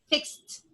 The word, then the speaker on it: fixed: Past, past, crossed, fixed. Past, crossed, fixed. The ed is like t.